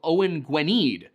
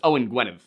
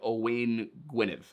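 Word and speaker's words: Owain Gwynedd: It's Owen Gwynev. I mean, if you want to get really into the pronunciation, it's probably something more like Owen Gwynev.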